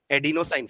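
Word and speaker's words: adenosine: इसका full form भी लिख लो पूरा, एडिनोसाइन ट्राइफॉस्फेट, हाइफन डाल के एडिनोसाइन, स्पेलिंग ADENO, एडिनो हो गया। देन साइन, साइन है, शाइन नहीं है, SINE, ठीक है।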